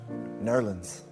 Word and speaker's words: New Orleans: Jazz was born in New Orleans, or as it's correctly pronounced, Nerlens.